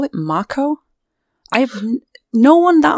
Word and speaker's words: Mako: If you listen to the Japanese dialect and how they pronounce the A's, it is true to form. Like, the A's are pronounced as R, so I guess Marco would kind of make sense.